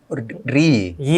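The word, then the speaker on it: Reyee: SMB dan Soho itu ee masuknya RI RI Y RI ya. Riy itu kan bacanya R E Y E bacanya RI RI RI RI Oh oke oke oke.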